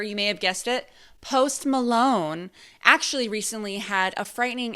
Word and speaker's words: Post Malone: Very recently, as of 2018, a very famous American rapper whose name rhymes with host Toblerone. Okay, so a very famous rapper, you may have guessed it, Post Malone, actually recently had a frightening encounter with the Dybbuk box.